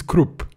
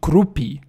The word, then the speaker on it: Kruppe: So, E is kind of swallowed in his name.